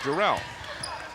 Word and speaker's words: Durrell: know during last game you mispronounced my name and it is Durrell we'll make sure we